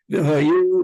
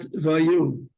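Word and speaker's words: והיו: V'hayu, not vayu. Don't swallow the hay.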